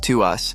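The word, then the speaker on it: TWS: TWWS, pronounced as to us, is the first boy group since 17 that comes from Pletus Entertainment, a subsidiary of Hive Entertainment.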